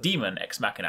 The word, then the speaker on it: Daemon X Machina: This is pronounced Daemon X Machina as opposed to Daemon, despite the spelling.